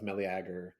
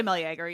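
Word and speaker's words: Meleager: I think I would say Melagger. Yeah, it's I just try to hit all the all the letters the syllables whatever.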